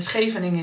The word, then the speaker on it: Scheveningen: That is the beachy part of the Hague, but it has the really loud sch, which I think we can only pronounce in Dutch, and German people cannot pronounce it.